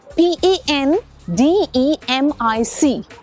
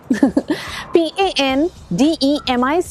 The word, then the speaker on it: pandemic: PANDEMIC, पेंडेमिक, पैंडेमिक, पेंडेमिक। PANDEMIC में 3 sound है, पैन, day, Mick. लेकिन जो स्ट्रेस है ना वो पैन पे नहीं है, इसलिए the सही pronunciation is pandemic।